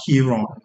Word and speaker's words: Chiron: If it's strictly Italian would be pronounced Kiron, but I've seen people pronounce it Chiron or Chiron or Chiron.